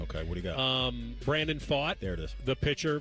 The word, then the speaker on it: Brandon Pfaadt: ago, and I finally figured out how to pronounce his name. Okay, what do you got? Brandon Pfaadt.